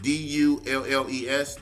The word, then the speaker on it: Dulles: Dulles.